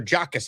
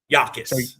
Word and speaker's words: Jacas: Illinois pass rusher Gabe, is it Yakus or Jackus? How do we actually pronounce his name? Yakus. Exactly. The J is The J is silent. So, Gabe Yakus, Dom, what do we need to know about him?